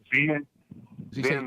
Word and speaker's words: Venn: How do you pronounce them? These diagrams? Venn diagrams.